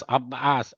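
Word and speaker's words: عباس: अब जैसा कि हम, अगर आप बोलेगे, एक ने बता, आप एग्जैक्ट होता है, अब्बास नहीं होता है, अब्बास, अब्बास, ऐसे आइन का निकालना पड़ता है, अब्बास ऐसे होता है।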